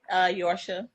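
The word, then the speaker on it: Yorcha: Yorsha. Yorsha? Mm-hmm. Okay, Yorsha. How you spell that, love?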